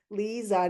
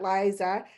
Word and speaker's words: Liza: So, it is pronounced Lisa, not Liza, but I know it's spelled like Liza, and we will just blame my mother for that.